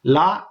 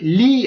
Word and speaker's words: gli: ஆனா உச்சரிக்க நீங்க லீ என்று உச்சரிக்க கூடாது. நாக்க நல்லா அடி மேல வந்து நாக்க தொட்டு லீ அப்படின்னு உச்சரிக்கணும். ஓகே, லீ ஜோகுர்த். ஓகே, லீ லீ ஸ்ட்ரூமெந்தி, லீ ஸ்ட்ரூமெந்தி, லீ ஸ்ட்ரூமெந்தி. லீ அப்படின்றது நல்ல வடிவா உச்சரிக்கப்பட வேணும்.